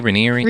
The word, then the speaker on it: Raniere: Raniere?